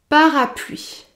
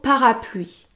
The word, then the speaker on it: parapluie: son parapluie avec soin parapluies parapluie il ne faut pas prononcer la lettre e à la fin du mot parapluie parapluie pour prononcer le